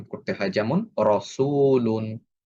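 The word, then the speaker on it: رَسُولٌ: যেমন রসুলুন, রসুলুন। আমি যদি এভাবে উচ্চারণ করি রাসূলুন, এটা ভুল উচ্চারণ। রসুলুন এভাবে আমাদের উচ্চারণ করতে হবে।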